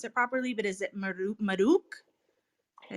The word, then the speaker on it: Mahruk: properly, but is it Mahruk? Did I say that right? Yeah, no, hi Vanessa. It's Mahruk. The way I tell people is always like your mom, Ma, like calling your mom Ma,